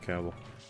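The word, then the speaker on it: Cavill: that his last name caval is pronounced like the word travel oh sometimes I I that up and I say cavil instead of caval is how dare you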